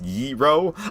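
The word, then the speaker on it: gyro: Guyro me slice peen cosplaying as an orange and it's not pronounced groy, right? It's yro.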